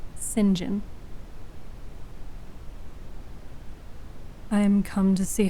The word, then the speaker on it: St John: it with modern words it is St John by a coworker of mine who knows a thing or two uh said that it would be appropriately pronounced singen I am come to